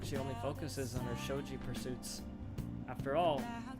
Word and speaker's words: shogi: Anyway, a shogi expert, huh? Oh, it's shogi. I apologize for pronouncing it incorrectly.